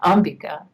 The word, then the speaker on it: Ambika: That's how they say it in India, Ambika.